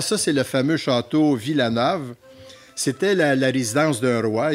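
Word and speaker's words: Wilanów: Villanove, excusez. Parce que le W se prononce comme un V. Donc, c'est Villanove.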